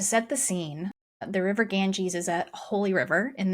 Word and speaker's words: Ganges: on I forgot to look up how to pronounce the name of the river. The Ganges G- S Ganges.